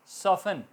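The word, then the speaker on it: soften: लिसन, fashion बांधना, लिसन सुनना, fashion बांधना या जल्दी, फास्ट से fashion, fashion your C belts, T silent. सॉफ्ट सॉफन, नरम, टी साइलेंट।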